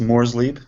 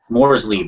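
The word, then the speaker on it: Morrslieb: right yeah just well just two syllables mors Le mors Lee okay all right I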